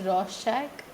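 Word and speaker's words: Rorschach: Shack in blot test it's pronounced as Ros Shack then thematic a perception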